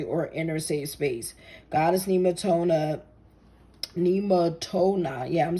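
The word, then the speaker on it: Nemetona: Nematoma is pronounced Nematona. Nematona.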